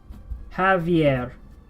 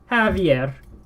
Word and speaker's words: Javier: The A is actually lower in the mouth when you pronounce it, whereas Javier, the A is higher in the mouth when you pronounce it in English.